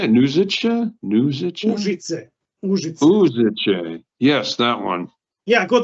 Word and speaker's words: Užice: Užice.